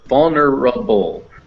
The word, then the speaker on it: vulnerable: we have bubble yes this l has that dot under it which makes it like its own syllable so a bull apple yeah stand up l yes so vulnerable now this e is optional like i said the schwa so if the schwa goes this r attaches to this schwa over